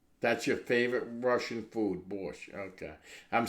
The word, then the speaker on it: borscht: That's your favorite Russian food, borscht. Okay. I'm saying it right, borscht?